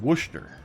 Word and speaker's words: Worcester: come down here and it's Wooster by the way that is pronounced Worcester case you didn't know